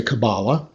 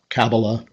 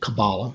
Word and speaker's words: Kabbalah: how to pronounce it well I say Kabbalah you've noticed that the word actually has three syllables and I have heard catalysts themselves pronounce the word with the accent on each of them Kabbalah Kabbalah Kabbalah but the standard pronunciation in the dictionary and most American use just to accent the second symbol Kabbalah as I'm doing don't be surprised if